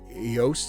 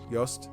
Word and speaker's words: Joost: But yeah, I got to talk to, I think Yost is how you pronounce it, Joost, was one of the composers. Yost.